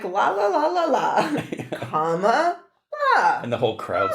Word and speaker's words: Kamala: And the way they did it on this side say, comma. Comma, like the punctuation mark. And then la, like la la la la la. Comma, la.